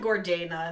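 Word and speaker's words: Gordaina: just go Lilian Gord she said Gordana in the Audi book so I'm going with it Gordana and little insight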